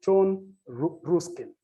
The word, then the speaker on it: John Ruskin: This scholar by the name John Ruskin, R-U-S-K-I-N, John Ruskin, others could pronounce it as John Ruskin, depending on which part of the world you come from. The region where I come from, I pronounce it almost indigenously as John Ruskin, 1849.